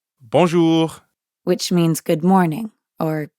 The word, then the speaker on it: bonjour: Notice how the J in bonjour sounds a lot like the middle of the English word measure? Je. Je. Bonjour. And the R at the end of jour doesn't really sound like an English R. You should feel that R in your throat. Jour. Yeah, almost like you're gargling or clearing your throat.